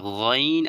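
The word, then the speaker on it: غ: এবার যেটা গাইন আর খ এটা একদম কন্ঠনালীর শেষ থেকে আমাদেরকে কি করতে হবে শেষ হইতে আমাদেরকে এটাকে নিয়ে আসতে হবে ভিতর থেকে টেনে বের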